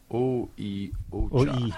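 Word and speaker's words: Oi Ocha: How do you pronounce that? Oi oka or ocha. Oi-ocha.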